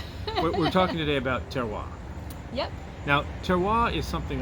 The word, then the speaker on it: terroir: i do pronounce as the way i've heard it from the sommeliers i've talked to is terroir almost like a w sound for us english-speaking people but it is a french